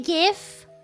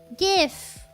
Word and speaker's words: GIF: graphics interchange format images says that it's pronounced like the freaking peanut butter brand. Okay. Yeah, GIF is the peanut brother. GIF.